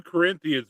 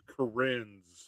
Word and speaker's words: Corinthians: It was 2 Corinthians, but he pronounced it 2 Corinths, so I don't think he got it right. 2 Corinths.